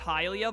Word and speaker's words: Hylia: long as i'm able i'm pretty sure her name is pronounced hylia by the way because it's like hyrule and hylia but helia just sounds